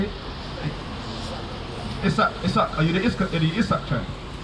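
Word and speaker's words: Isaaq: Isak.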